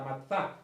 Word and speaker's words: matzá: ácimo, tiene un nombre, matzá es el nombre, con Z, matzá, así se pronuncia o parecido, y ellos comen ese